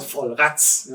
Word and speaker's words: Vollrads: It's called Vollrads. I pronounce it a little bit harder because it was the way how the wine was pronounced at that time.